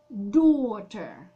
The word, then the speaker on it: daughter: Есть слово «дочка» – «daughter», «daughter». Нам слышно только 4 буковки. А пишется это слово «d-a-u-g-h-t». Сейчас посчитаем. «d-a-u-g-h-t-e-r». 8. Представляете, 8 букв в одном слове, а читается «daughter».